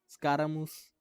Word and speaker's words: Scaramouche: और मैं सही बोल रहा हूँ, ऐसे प्रोनाउंस करना है, मूस, स्कारामूस, हैप्पी.